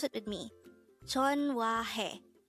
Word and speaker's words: 전화해: This is pronounced as a three-syllable word. The first syllable is Jeon, second syllable is Hwa, third syllable is Hae. Pronounce it with me. JEONHWAHAE. JEONHWAHAE.